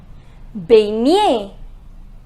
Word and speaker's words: baigner: Remember, the pronunciation of GN is near. It is near. What will be the pronunciation? Baigner. It is baigner.